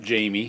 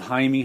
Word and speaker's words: Jaime: one and here's a jaime hernandez there's a signature down there and he's Jaime not Jamie in case you didn't know that goes to the Spanish pronunciation and I just love